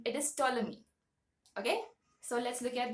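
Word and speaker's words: Ptolemy: e m y so the p in that word is silent it is toi okay so let's look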